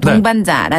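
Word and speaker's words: 同伴: 되면 영원한이란 뜻이 돼요 용다네 그리고 파트너 동무 동반자라 뜻의 발음은 동반 동반 한번 더 동반 발음이 굉장히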